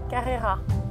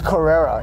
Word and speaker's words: Carrera: Carrera. Wow, you French are just so eloquent. It's Carrera in America. Excuse me. Yeah, it's Carrera in French. Wow. You wanna battle right now? Carrera.